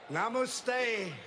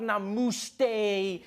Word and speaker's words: namaste: People were coming on like, dude, it's not namaste, it's namaste. Who messes up namaste? It says namaste.